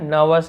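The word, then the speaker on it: nervous: घबरा जाना, gate नर्वस, इसे नर्वस बोलते हैं, नर्वस ऐसे होगा, आर थोड़ा साइलेंट होता है, तुम इतना घबरा क्यों रहे हो, वाई आर you getting नर्वस।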